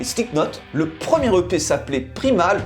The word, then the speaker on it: Primal: Le premier EP s'appelait Primal ou Primal si on le prononce à l'anglaise, et le titre, le clip qui est sorti, est tiré du même nom.